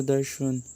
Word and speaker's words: darshan: Hinduism was the dominant religion in southern India, and seeing the divine or darshan, pronounced or darshan, was a major purpose with the temple worship